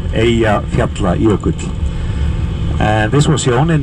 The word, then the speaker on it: Eyjafjallajökull: name of the volcano, Eyjafjallajökull. And this is a difficult word because there are 2 double L's in it, and there were very strange versions of this word all over the world.